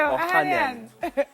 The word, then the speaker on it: Ohanian: Listen, I can't pronounce the last We part. say it for you, Ohanian.